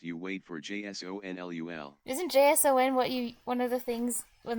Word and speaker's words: JSON: N underscore sweep says it's a file type, yes, pronounced Oh. JSON.